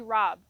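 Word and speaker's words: raab: a special variety called broccoli rob and that's spelled r-a-a-b that you can cut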